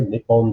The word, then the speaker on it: Nippon: top left new dir nippon being the original pronunciation the native pronunciation of japan and we see other